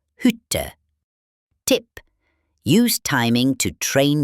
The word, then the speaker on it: Hütte: A short vowel usually comes before a double consonant, like in Stadt or Hütte.